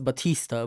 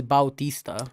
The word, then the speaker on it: Bautista: because I thought yeah I thought it was Batista but no it's Bautista I thought it was